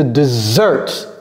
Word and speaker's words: desert: sur la deuxème de Desert ici il y a un seul S et ça se prononce comme un seul S mais l'accent est mis sur la première syllabe de Desert de Desert ok vous